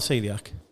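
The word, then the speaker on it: coeliac: I'm a Celiac lit Now spell celiac c o e l i c it's not it doesn't look like how you say it does it Celiac Chef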